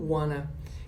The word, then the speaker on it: want to: Mais uma vez, o want to vai ser pronunciado como wanna.